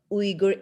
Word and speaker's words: Uyghur: How should I pronounce? Yeah, because when Uyghur.